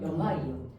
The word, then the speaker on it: 염화이온: 이때 우리는 소자로 끝나는 애는 소를 지워야 돼요. 그래서 뭐라고 읽어요? 염화이온. 산소화이온 아니고요. 산화이온. 이런 식으로 해서 소자는 지워주셔야 돼요. 자, 그러면 주로 음이온으로 되는 아이들이 모든 비금속이 아니지만 대다수 무슨 원소가 얘들아?